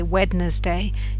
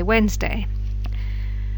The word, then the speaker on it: Wednesday: you say vegetable and you don't say wedness day you say Wednesday probably is a little